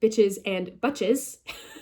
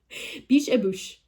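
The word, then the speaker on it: Biches et Bûches: space ET space BUCHES, which as an American, an English speaker, if you will, I read as bitches and butches. I was like, bitches and butches, hell yeah. Biche et bouche is, I believe, how you pronounce it in French, en français.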